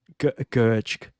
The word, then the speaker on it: Gertsch: So, Gertsch. Yeah, that's good.